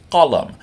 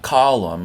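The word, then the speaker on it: qalam: the idea here so this word is colum not column like something that holds a building up or Gollum the little guy who wants his ring back but colum two short syllables colum and that's a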